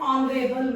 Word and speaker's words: honorable: See, H is not a vowel, but see the pronunciation. Honorable, or. So even though consonant is used, but it is giving vowel sound.